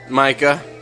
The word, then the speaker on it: Micah: the cup for you, Micah. Are you okay? How do you spell that? M-I-C-A-H, Micah. Micah. All right. Yeah, just think like a microphone, like a mic, but with an at the end, or like.